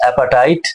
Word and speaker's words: apartheid: Apartheid, pronunciation of this word is appetite.